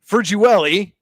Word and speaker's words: Ferguelli: And our Allegheny Grill of Foxburg player of the game, excuse me, Joe Ferguelli, as you've told me is the proper pronunciation, so we apologize for